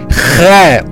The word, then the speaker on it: x: gene özel bir harfimiz x Latin harfindeki x He Kürtçede He olarak telaffuz edilir Türkçe alfabede yoktur Eee Arapça alfabesindeki hı sesine yakın bir ses veriri Allah yaradan ye y